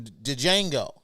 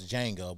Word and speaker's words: Django: like really steven from dejango i know it's django but the django because i'm a [ __